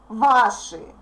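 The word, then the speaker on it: ваши: or your business kakawa please don't try to pronounce this part like she she even if e makes the previous consonants soft please don't forget that sh is always hard and by the way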